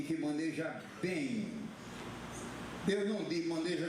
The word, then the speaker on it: maneja: viaja pelo Brasil inteiro evite dizer maneja a pronúncia correta que maneja é fechado a não ser que